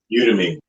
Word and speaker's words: Udemy: Udemy.